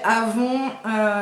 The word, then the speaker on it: Avon: ah donc de chez Avon nous on prononce ça comme ça je sais que elle elle dit Avon c'est une marque qu'elle